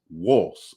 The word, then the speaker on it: Wos: but the melodic in the melodic script, you pronounce Isis Wos, W-O-S, which I found interesting.